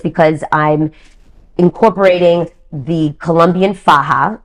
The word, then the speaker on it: faja: And it's because I'm incorporating the Colombian faja, F-A-J-A, faja, it's pronounced, and that is our version of shapewear that has existed for decades and decades.